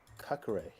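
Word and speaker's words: Caqueret: Maxon Kakare. Not cock. Kakare.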